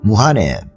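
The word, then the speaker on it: 武漢: 신천지에서 우한에 그 무한이라고 하죠. 한자어 발음으로는 무한에 지교회가 있었다고 그래요.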